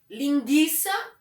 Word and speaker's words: linguiça: Porque o trema, ele traz um certo tremor na voz, né? Frequência. e não frequência. Que e que, né? Frequência, frequência. Linguiça, linguiça. Então a gente percebe que a presença do trema, ele faz a pronúncia tremer.